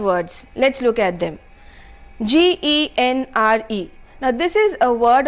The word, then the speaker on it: genre: are talking about a genre and not a genre it's not a generator it's a genre all right you're talking